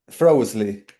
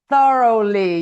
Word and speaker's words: thoroughly: Frosley. It's thoroughly. Yes, it's complicated. Thoroughly. It's complicated. Thoroughly. Thoroughly. It's a very difficult word to pronounce.